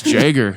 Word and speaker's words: Jagger: It's pronounced like Jaguar is how the note for people that can't see that.